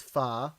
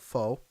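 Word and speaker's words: phở: is fat or foe depending on how you pronounce it i you know you know i i was corrected as it's pha but i call it faux because uh is delicious i'm curious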